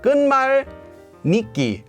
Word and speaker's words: 끝말잇기: I said that our word is actually pronounced as 끈말잇기. So we have here, it becomes nit. This is pronounced as nitki. So we have 끈말릳끼. How did we go from 끈말 and 닉기 to 릭기? Well, this is the same sound change rule that happens with Seoul Station.